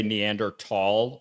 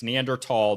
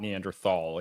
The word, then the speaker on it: Neanderthal: around people in archaeology, you have to say Neander tall or they will be incredibly pretentious to you. So just remember it's Neanderl, not Neanderthal, even though it's spelled Neanderthal.